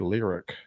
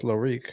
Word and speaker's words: Lyriq: But Dane, somebody told me in the comments that the Cadillac Lyrique is pronounced the Cadillac Lyric. Lyric? I thought it was Lyrique.